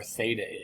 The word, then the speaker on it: Theta: a or b um well depending on where Theta is uh you know oh I guess I